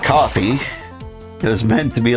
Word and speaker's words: Kofi: Kofi, pronounced coffee.